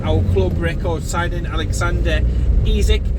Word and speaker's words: Isak: club record signing alexander ezek that's how he's pronouncing exactly i've heard isaac and all different things there and in between um but for